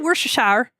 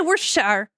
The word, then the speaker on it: Worcestershire: We just say Worcestershire. when we be cooking, we just say Worcestershire.